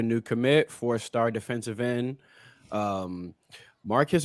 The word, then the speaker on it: Marquise: Marquise or Marquise Lightfoot, depending on how you want to pronounce it. I believe it's Keys Lightfoot.